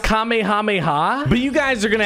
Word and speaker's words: Kamehameha: there we go the nimbus cloud and the kamehameha right here okay so that's how the nimbus